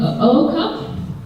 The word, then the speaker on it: Ooko: And it's a challenge to pronounce his surname because you have to pronounce two O's at the beginning. So that's been Oko.